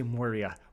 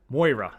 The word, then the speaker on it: Moira: Why do you say Moria? Moira.